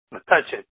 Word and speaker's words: Metuchen: Metuchen. Say that again. Metuchen.